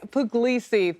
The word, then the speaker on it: Pugliese: Pugliese joins me now. He is an economist at Wells Fargo. I know I just butchered your name. Please correct me. Pugliese.